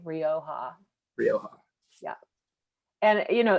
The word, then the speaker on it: Rioja: spain would you repeat that please yeah it's pronounced rioja um and they say it right in those gold letters on the on the label so r r i o j a rioja rioja yeah and you know as kathleen mentioned